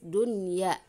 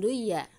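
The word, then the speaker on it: دنيا: Jelas, dunya, bukan duya, ya. Secara kita kalau tidak tahu kaidah ini, mungkin dibacanya jadinya duya karena nun sukun ketemu dengannya. Iya, tapi di sini ada syarat lainnya, yaitu satu kata.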